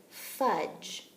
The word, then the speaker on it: fudge: spelled f you DGE do you notice any sounds that we don't hear in fudge that's right we don't hear that D we don't actually hear the e either but the pattern that